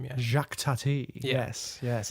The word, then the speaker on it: Jacques Tati: how do you pronounce the full director's name jacques tati it's not his real name but that's like his stage name yeah jacques tatty yes yes it's gonna yeah i'm looking forward